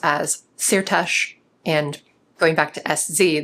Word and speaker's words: Szirtes: And in Hungarian, an S followed by a Z makes the simple S sound in English.